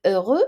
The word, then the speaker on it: heureux: For example, we have the word heureux. So remember that the H is silent.